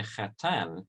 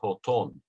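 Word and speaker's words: חתן: about the bridegroom, and she doesn't say khatan, she says hoton. Now that is an ancient pronunciation of Hebrew, different from the Sephardi tradition, which is embedded within the speech of these ancient vernacular languages.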